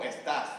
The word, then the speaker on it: estás: I'm like, it's not como estas, it's como estás, no? Con el acento estás.